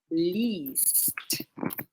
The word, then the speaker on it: liest: If you hear that I'm pronouncing it really long, liest. Er, sie, liest. Und sie lesen. The tricky part here is the IE für du und für er und sie.